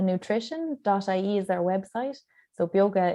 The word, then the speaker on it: Beoga: Instagram and Facebook at bioga nutrition.ie is their website so bioga is spelled b-e-o-g-a it's uh Irish for vitality um so you can